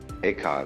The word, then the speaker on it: Eka: Bodhidharma had a pupil by the name of Eka, Huike in Chinese. Eka is Japanese pronunciation, like Zen is the Japanese pronunciation of the Chinese Chan.